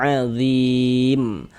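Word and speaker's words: عَظِيم: Huruf yang disukunkannya huruf huruf mim ini kalau kita berwakaf berhenti di huruf mim kita baca adzim.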